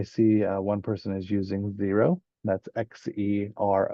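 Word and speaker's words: Xero: So here I see one person is using Zero.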